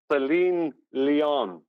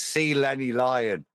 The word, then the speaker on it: Selenelion: No, it's C. Lenny Lion. It's a bit like celibacy and Shirley Bassey.